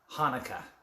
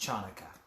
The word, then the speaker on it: Hanukkah: In the words of Adam Sandler, the C is silent in Hanukkah. It's not pronounced Chanukah.